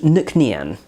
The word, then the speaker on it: Nc'Nean: So this is Nc'Nean. I did have to double check the bottle to make sure I'm pronouncing it correctly.